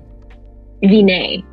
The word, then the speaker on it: Wiene: season 2 to season 3, and from there, Wiene. Did I say it right? Wiene.